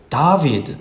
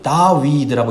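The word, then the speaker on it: דוד: 히브리어로 다윗을 다비드 또는 다위드라고 읽습니다.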